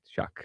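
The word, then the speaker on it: Shough: His name is Tyler Shuck.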